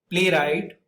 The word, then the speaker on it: playwright: A lot of people don't realize that the W is silent over here.